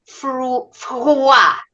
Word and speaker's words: Freud: Freud. But that's a French word. It's supposed to be pronounced froid. It means cold. I prefer the American pronunciation.